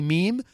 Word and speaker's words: mime: french meme for every a lot of people mispronounce that they say mime it's actually meme the art of french